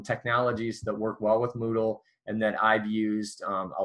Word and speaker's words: Moodle: overview of some technologies that work well with Moodle and that I've used a lot the next